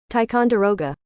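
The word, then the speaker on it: Ticonderoga: the whole world's and this is how you say it tyon deroga yeah I was definitely messing that one up myself so tyon deroga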